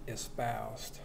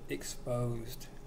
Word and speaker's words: espoused: your land shall be espoused that reminds me of something funny some people don't even can't even pronounce espoused they call it exposed no God doesn't call your land exposed he calls it espoused as a youth espouses